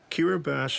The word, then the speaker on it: Kiribati: Kiribati has a tiny economy and little foreign aid.